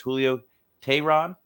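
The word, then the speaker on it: Julio Teherán: get on to somebody who I do struggle pronouncing his name but I got it today that's Julio tehrad finally got it right after hey Aaron a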